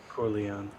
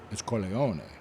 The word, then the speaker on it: Corleone: Corleon. Corleone. Mhm. It's Corleone, which is the name of the town.